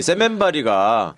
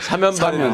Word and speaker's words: 사면발이: 그게 무슨 시멘트에서 나온다고 세면발이가 아니고 사면발이는 세게 발음해서 그 세면발이라고 하는 기생충에 건데.